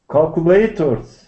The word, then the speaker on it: calculators: Okay, and where's the stress on this word? Calculators. Well, yours is on the third syllable, but I think that's not the best place for it.